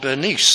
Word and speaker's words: Bernice: days Ag grippa and Beni well that's our classical pronunciation people bearing this name prefer to be called Bernice today maybe that's how I